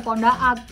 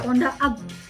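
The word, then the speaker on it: Pondaag: Enggak tuh bener Ponda Ab. Gue juga soalnya baca kayak kan gue agak diseleksi gitu ya. Ini apa bacanya gitu? Ponda kali gitu. Pance Ponda. Ponda Ab namanya. Oh bukan bener Ponda. Ini nggak ada nih Ponda Ab.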